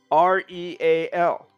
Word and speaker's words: real: You see, the only difference between teal, T-E-A-L, and real, R-E-A-L, are the consonants that begin the word, but yet real is two syllables and teal is one.